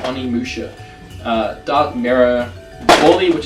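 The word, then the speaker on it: Onimusha: that's in their stack the random Oma amua Spyro that's not how you pronounce it Oni Musha uh dark mirror BDI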